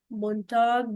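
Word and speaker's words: Montag: डे ऑफ़ the week in India we से मोंटाग मंडे बट in foreign countries they start from like Sunday and ऑल। सोमता इज मंडे then मंडे then Tuesday मोंटाग dice स्टारग third is मिट walk मिट walk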